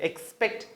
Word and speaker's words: expect: இது அதிகமான எங்களுடைய ஸ்டூடெண்ட் expect and pronounce பண்றதை நாங்க பார்க்குறோம். but the right pronunciation of this word is expect, expect.